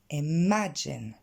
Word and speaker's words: imagine: on regarde sa prononciation l'accent tonique tombe sur la deuxième syllabe m à jane et ce qui l'entourent